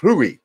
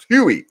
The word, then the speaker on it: Rui: Hachimura's name, but Nelson says you got to say Rui. You can't say Rui. You got to say Rui. So, because Nelson is tapped into his Japanese ancestry, Rui. So you got to say it like that.